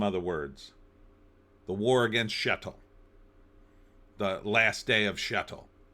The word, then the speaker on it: shtetl: The first thing you should have done is added the E, shtetl, so people would pronounce it correctly and they wouldn't make fun of it.